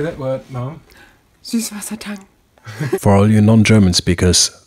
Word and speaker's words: Süßwassertang: Süßwassertang. For all you non-German speakers, that's how it's pronounced.